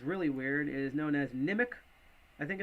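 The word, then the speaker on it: Nimiq: um this is uh sometimes I call I call nim IQ but I guess you pronounce it nimic um so what is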